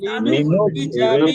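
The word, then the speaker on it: لِنُخْرِجَ: লিনুখরিজা এখানে টানের কিচ্ছু নাই। লিনুখরিজা বিহি লিনুখরি না আবুল কাসেম ভাই, লিনুখরিজা রজের রি, এটা মুখস্থ করা যাবে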